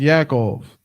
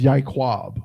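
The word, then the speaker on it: יעקב: his name was Yakov this is garbage and not right of course but I tell people that they think I'm bugging no I went to the school with a kid I think it was more than one Dane Yakov okay but yeah the actual name is yikwab which sounds way more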